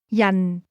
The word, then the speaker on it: 人: Yan. Yan. This word is pronounced with a falling tone.